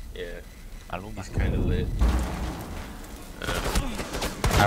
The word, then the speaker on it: Maluma: It's like Maluma or something like that. But. Maluma. Yeah. Maluma.